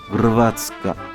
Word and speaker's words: Hrvatska: Hrvatska signifie Croatie et se prononcera plutôt comme Hrvatska.